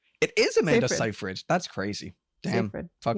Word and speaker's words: Seyfried: Amanda Seyfried. It is Amanda Seyfried.